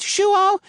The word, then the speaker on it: João: That first name is the Portuguese version of John. If you pronounce it João, you'll be close enough to flatter a guy like him.